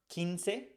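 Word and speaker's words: quince: the K in Kik the U is never pronounced so an example is kinse it has q u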